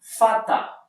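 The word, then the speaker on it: Vater: él es mi padre la pronunciación fonética aquí les coloque pata porque porque la r final en alemán se suele pronunciar como una a una era imperceptible así que pueden comenzar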